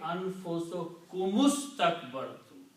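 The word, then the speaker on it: أنفسكم استكبرتم: And when you read together, then you read anfusukumustakbartum. Okay, you don't pronounce this alif in the middle here, this first alif, and it becomes hamzatul wasal.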